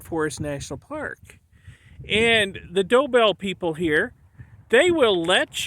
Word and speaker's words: Doebell: to help you understand how to pronounce the name of their Ranch dobel they got a doe and a bell and um well we're